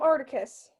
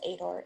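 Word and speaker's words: Aitor: hater eater ater quantic i keep calling him articus nope it's adore a-i-t-o-r also i watch for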